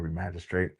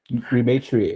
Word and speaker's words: Rematriate: And then, one of the newer groups that you had mentioned was the MMIW Remagistrate. Rematriate. Rematriate. Remagistrate. Rematriate, my bad.